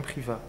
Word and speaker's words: Privat: Son prénom est bien Priva. Priva, P-R-I-V-A-T, Tout à fait. mais qu'on ne prononce pas.